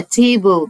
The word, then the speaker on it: table: table والاي في الاخر ما ننطقهاش، ما بتعمل ايه؟ بتساعد صاحبتها الشقية الايه دي تقول اسمها ايه، يبقى table ترابيزة، table.